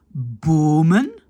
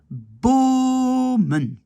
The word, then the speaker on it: bomen: Alors que ici, et c'est là, voilà, parce que normalement ici, le pluriel de boom, arbre, ça devrait être bomen, hein, parce que c'est un long O.